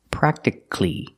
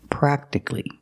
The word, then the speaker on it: practically: words practical and practically we do not say practically because you have c-a-l-l-y the a is silent so it's pronounced practically at the end put the sounds together CLE practically Alex Larson is my